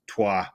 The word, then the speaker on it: Troyes: Troyes. That pronunciation is perfect, as Pavlos will tell you.